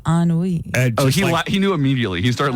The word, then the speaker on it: ennui: DJ says, why are we trusting Nico with his pronunciation with his ennui issue? Yeah, right. I think I'm telling Can you tell me how you pronounced ennui?